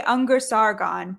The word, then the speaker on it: Ungar-Sargon: I usually say Ungar-Sargon, but like my Ungar-Sargon. my grandfather who was Ungar didn't pronounce Ungar like Ungar. He called it Ungar. And my grandmother who's from India, they didn't call it Sargon, they were Sorgons.